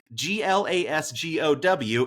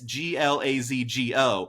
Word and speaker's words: Glasgow: And one person wrote, it's not Glasgow, it's Glazgo.